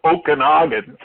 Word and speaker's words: Okanagan: I think at the time that's what I would have called it too, but I believe it's called Okanagan. I believe it's the proper way to pronounce it.